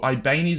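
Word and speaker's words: Ibañez: We've got Marusic at left back, and Ibanez, or Ibanez as how it's pronounced, as our 2 Serie A players.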